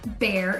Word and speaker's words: Bexar: Now, for property taxes in San Antonio, Bexar County, and yes, it is spelled B-E-X-A-R, but it is pronounced Bear. It is very German.